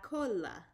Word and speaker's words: cola: of a weird one it's la cola so there's no double l if you see here there's no double l so you don't do the y sound so it's just cola all right and that's